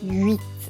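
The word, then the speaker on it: huit: 8, okay? So it's a pretty simple pronunciation, 8, except that it changes with la liaison.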